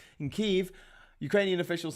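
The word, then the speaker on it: Kyiv: jesus christ uh in kiev which is the correct pronunciation of the ukrainian capital in kiev ukrainian officials say russian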